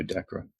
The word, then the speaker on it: Decorah: if it was pronounced Decorah, or something else. And somebody said it is pronounced like Deborah. So Decorah, Iowa.